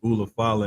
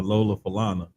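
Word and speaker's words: ulafala: He would always mispronounce the Ula Fala and just started calling it the Lola Falana.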